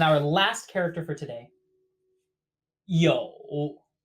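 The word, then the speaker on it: 又: last character for today yo pronounced exactly like to have no difference same tone as well yo this character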